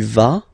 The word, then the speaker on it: vas: Basically you pronounce it like for the tu because you don't pronounce the final S, okay, il va, elle va, okay, je vais, tu vas, il va, elle va.